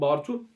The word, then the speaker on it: Bartu: Yine savunmada Ersan ve özellikle Bartu'ydu yanılmıyorsam, tam olarak ismini yanlış telaffuz ettim. Evet, Bartu.